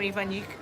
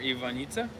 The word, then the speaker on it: Ivanjica: want to name her Ivanjica? No way. But you gotta spell it in English terms. You gotta put Ivanyeetza. Ivanjica.